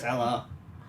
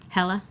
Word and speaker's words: Hela: Oh, I'm so excited to see her as Hela.